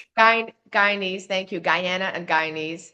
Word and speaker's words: Guyanese: In chapter two, you share powerful stories from your uh is it would you pronounce Guyanese heritage? Guyanese.